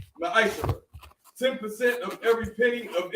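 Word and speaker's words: מַעֲשֵׂר: It means tenth in Hebrew, and it's pronounced Ma'ashara.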